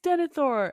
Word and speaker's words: Denethor: the teams, were like, actually, it's pronounced Denethor.